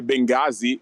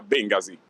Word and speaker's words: Bengasi: E a quanto pare Bengasi si direbbe Bengasi, ma il torinese medio continua a pronunciarla Bengasi.